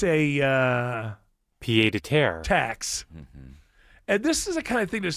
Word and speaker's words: pied-à-terre: And what's annoying me is this word, pied-à-terre. Is that how you say it? I think I have it here. Oh, I never heard it until this year. Pied-à-terre. Pied-à-terre. Pied-à-terre. Pied-à-terre.